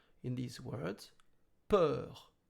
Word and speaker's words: peur: In these words, peur. You can imagine then that the letter U is silent, like peur, P-E-R. It's as if you had only P-E-R.